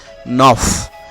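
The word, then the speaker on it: neuf: এরপরে রয়েছে নফ। নফের বানানো এফ রয়েছে, এফ এর উচ্চারণ করতে হবে, নফ।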